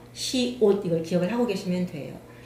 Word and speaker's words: 시옷: 시옷. 시옷이 아니고 시옷. 시옷, 우리가 옷 입는다 할때이 옷이에요. 시옷.